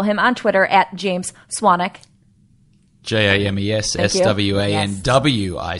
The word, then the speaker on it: Swanwick: on Twitter at James Swannack ji mes SWA and WI see there's a silent w but I've been karate